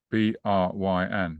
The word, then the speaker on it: Bryn: But right, James, the pronunciation of this is Bryn. Bryn.